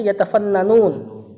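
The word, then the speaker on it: يتفننون: muas salimatu yfununu fiha ini apa ya bacanya ya baca yfunu yakin nih kayaknya sangat cakap iya kayaknya harusnya yatafannanun ada dua nun harusnya Ya yatafannun yatafannanun karena kan harusnya jadi tafannana yatafannanu ngambil dari kata funun tadi allati yatafannanunaanunahabi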